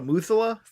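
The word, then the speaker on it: Methuselah: mother eight i i i'm going to spell this out i don't know how to pronounce this t-m-e-t-h-u-s-e-l-a-h thimmozela's toy i think it's the muthullah the sword of damocles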